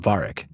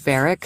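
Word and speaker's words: Varric: now would be about Varic. Varic. Did I say the name wrong? Yeah, it's Veric from Dragon Veric.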